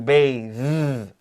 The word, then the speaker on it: bathe: But the verb for take a bath, 事实上可以变成一个单词, and it's to bathe. That A is a long A. And 那个 TH 变的你要加一个 E, to bathe.